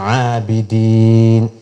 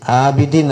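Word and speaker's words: عابدين: സമയത്ത് ഉച്ചാരണം വരുന്നത് പിന്നെ ആബിദീൻ ആബിദിൻ അല്ല ആബിദിൻ ഐനും ഹംസിയും വേർതിരിച്ചു തന്നെ നമ്മൾ ഉച്ചരിക്കണം ആബിദീൻ പിന്നെ വലുതൻ ആന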